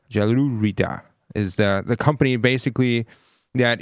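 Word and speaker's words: Jelurida: So for one, I mispronounced the name of the wider company, and it's Gelurida. Gelurida is the company basically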